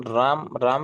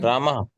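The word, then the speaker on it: रामः: Shriram sir is telling actual pronunciation Ram Ram is not the actual pronunciation huh? Mhm. Ramaha Ramaha like Ramaha yes.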